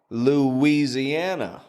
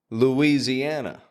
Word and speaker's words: Louisiana: The point is, there's no W in the spelling, my friend, but we are pronouncing a W every time.